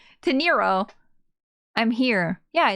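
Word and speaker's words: Teneiro: Miss Torino. Torrio? What's your name? What's your name? Teniro. I've been saying her name wrong. Teniro.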